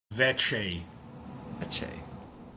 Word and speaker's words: Vecsei: Vecsei.